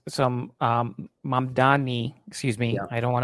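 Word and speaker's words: Mamdani: And let me let me give Mam Dami some um M Dani, excuse me. I don't want to mispronounce his name.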